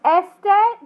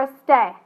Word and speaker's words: este: Now let's look at the syllables on this. It ends in a vowel, so your stress should be on the second to last. Is it este, the verb, or este? Este.